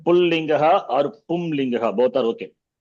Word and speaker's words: Pullingaha: So not Pulling, Striling, that is wrong. Okay. Those who speak Hindi speaking people, they say Pulling, Striling, it is Pullingaha, Strilingaha, Napumsakalingaha.